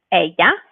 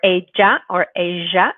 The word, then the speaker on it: ella: She we know is ella or ella, depending on your pronunciation.